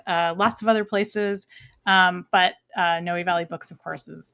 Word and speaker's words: Noe Valley: Noe Valley Books, yeah.